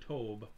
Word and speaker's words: Tobe: Is it Toby or is it Tobe?